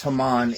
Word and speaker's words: Haman: Uh the the Yeah, it's the the the Greek um the he the English translation from Hebrew was Haman.